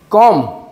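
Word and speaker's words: comb: উচ্চারণ হলো বম বম কম যেটা হলো কম এটার উচ্চারণ হবে কম কম পি টা হবে না কম কম সি ও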